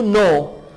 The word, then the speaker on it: n'est: ce n'est pas, N apostrophe EST को pronounce करेंगे ने।